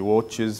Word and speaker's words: watches: good he watch you that should be 2 syllables watches very good a thunderbolt